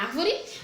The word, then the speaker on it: árvore: árvore a árvore não palavrinha árvore ácido mais forte da palavra é o ar ah tá essa palavra vai considerada proparoxítona porque assinou mais forte dessa palavra é a antepenúltima então as proparoxítonas a